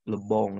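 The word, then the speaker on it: Le Bon: Charles Mari Gustav Lebong nah dibacanya Gustav Lebong no Perancis Lebong dibacanya ini adalah salah satu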